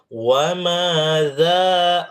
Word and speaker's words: وَمَاذَا: وَمَاذَا عَلَيْهِمْ, وَمَاذَا, za tidak boleh sa.